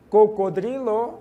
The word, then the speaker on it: cocodrilo: interessante aquele animal né cocodrilo é o crocodilo na língua portuguesa nós falamos cro né E lá é o Dri o r vai depois do d observem bem cebra começa